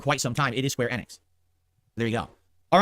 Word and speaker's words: Square Enix: square enex and I I apparently have been mispronouncing it for quite some time it is square enex there you go all right so thank you